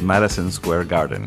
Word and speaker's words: Madison Square Garden: que pasa es que en inglés lo pronunciamos un poco diferente en inglés decimos marison Square Garden Ah viste que yo